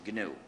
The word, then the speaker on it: GNU: this operating system please ignore the dictionary and pronounce it new if you talk about the new operating system you will get people very confused